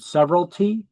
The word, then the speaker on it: severalty: So you can see I got the line drawn through the word severalty. It's pronounced severalty, like several, severalty.